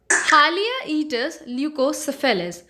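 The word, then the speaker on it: Haliaeetus leucocephalus: और अगर हम इसके जो साइंटिफिक नेम्स होते हैं उसकी बात करें सो इट is pronounced as हालियाइटिस ल्यूकोसेफेलस.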